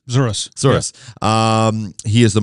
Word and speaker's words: Zouras: I feel like I said your last name wrong. Did I? No, that's correct. Zouras.